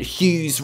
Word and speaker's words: Hughes: people figured out that hughes rhymes with poos they used to always